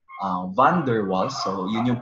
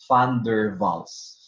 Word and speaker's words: van der Waals: exam questions okay but van der waals pronouns van der waals but if you're going to pronounce it in german it's thunderballs van der waals these